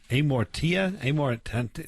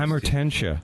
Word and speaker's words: Amortentia: How do you pronounce that? Amortia? The first one. I'm looking at my list. Amortentia. There you go.